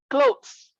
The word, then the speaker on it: clothes: Clothes, not clock. So it's pronounced as clothes.